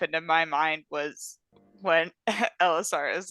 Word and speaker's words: Ellisar: Hi, Alyssa. You, There's ours. Elisar. you No, slay. not Elissa. Huh? Not Elissa, Elisar.